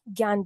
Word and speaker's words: ज्ञान: देखिए मैं ज भी बोल सकती हूं, ज्ञ भी बोल सकती हूं। दोनों करेक्ट प्रोनाउंसिएशन है। इसलिए आप इसको ज्यादा इस पे मत सोचिए। ज्ञान भी कहा जाता है और ज्ञान भी कहा जाता है।